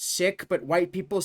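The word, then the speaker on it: Sikh: You don't pronounce it seek. It's pronounced sik.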